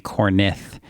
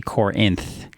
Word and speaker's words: Corinth: like oh my goodness she swapped like the ey in the end so she kept saying cornith as in corn and then I when it's actually Corinth as in like Corinthians the book of the